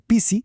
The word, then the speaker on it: pisi: Con una P simple, pisi, es menos. Si le agregamos un soplido de aire, una aspiración, pisi, se convierte en gato.